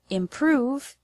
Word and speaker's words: improve: The word improve has the stress on the second syllable, prove.